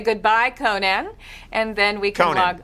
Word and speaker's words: Conan: Just Conan. It's not Yeah, it's notan. It's not Dutch. Uh, Conan.